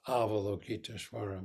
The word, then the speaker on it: Avalokiteshvara: in the chant is Avalokiteshvara Bodhisattva. So the first syllable is ah. So when we chant, it's ah, vola, ki, to, each.